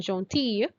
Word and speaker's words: gentil: for masculine singular and gentille feminine. Right? Gentil, we pronounce the L a bit, and gentille is like a Y, L-L-E. It's a Y sound for the feminine.